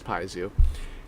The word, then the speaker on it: piezo: the piezo uh pickups i was corrected about that right so okay i'm gonna make a mental note so it's pronounced as piezo so yeah the pizza